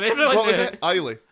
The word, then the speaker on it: Isla: It's better than my pronunciation. See, I've ruined it for everyone. What was now. it? Isla. Ayla.